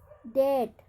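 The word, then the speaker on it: debt: Baum, डेट, यहाँ पर बी का उच्चारण न होने वाले शब्द क्या है, डेट।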